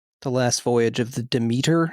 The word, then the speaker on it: Demeter: I just saw The Last Voyage of the Demeter. Everybody says Demeter in it, although I've always pronounced the goddess's name Demeter.